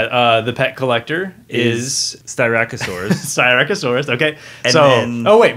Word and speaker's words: Styracosaurus: it for us hunters styracosaurus is the way that one is pronounced i don't know what